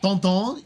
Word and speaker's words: Tintin: It's funny, Tintin is pronounced like, I think pronounced Tonton in French.